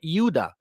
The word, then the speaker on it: Judah: like the descendants of the yahudah or Judah or Yuda which is the true pronunciation of Judah they all failed in